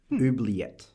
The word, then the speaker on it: oubliette: So, an oubliette is a dungeon. Can I just try and pronounce it? Oubliette. Oubliette. It's a French word.